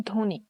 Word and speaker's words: ধ্বনি: প্রথম ব্যঞ্জন বর্ণে ব ফলা থাকলে উচ্চারণ হয় না, যেমন ধ্বনি। এখানে ব্যঞ্জন বর্ণের সাথে ব আছে, এই জন্য এখানে ব উচ্চারিত হয়নি।